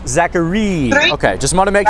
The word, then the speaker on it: Zachareee: you pronounce it liz is it zachary the spelling is a little interesting we just go zachary so yeah that's that's it three e's zachary okay just want to